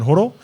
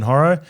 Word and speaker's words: Horo: So in New Zealand, my name is pronounced Horo. In Australian, it's pronounced Horo. And in Wakey, it's Oro.